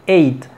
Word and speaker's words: eight: Aquí no suena la G, es simplemente EIT. 8.